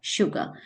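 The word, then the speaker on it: sugar: okay so this just check out the spelling clearly this is एस यू जीी ए आर S starting from S बट इट is produce य the sound of श शुगर similarly if वी गो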